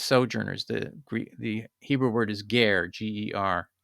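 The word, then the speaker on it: גר: The Hebrew word is ger, G-E-R. It's phonetically.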